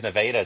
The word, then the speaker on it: Nevada: oh yeah we have nadaa text it's spelled the same way Nevada is but yeah we have nadaa Texas it's not too far